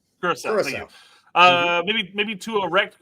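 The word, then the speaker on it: Curaçao: Curacao. Curacao.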